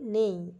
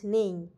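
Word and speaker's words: neigh: cold এবং এবং এর সাউন্ড কে আমরা বলি নেই এন ই আই জি এইচ নেই আর কোল্ড এর সাধারণভাবে আমরা বাংলা বলে থাকি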